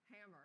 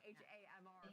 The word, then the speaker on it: HAMR: It But doesn't help me much at all, but I did learn that it's pronounced hammer, not like the way I was saying HAMR for quite some time.